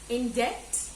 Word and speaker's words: debt: I came to know about people who were actually in debt. In debt, D-E-B-T. We don't pronounce the B, it's in debt.